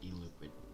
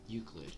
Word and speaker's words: Euclid: Object class, e-liquid. Hold on, I'm gonna load up. Google. Let's just have it pronounced for me because I apparently can't speak English. Euclid.